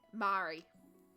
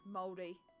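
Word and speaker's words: Māori: or european people who I used to say my Maori Mari and that's not correct it is moldy um and learning to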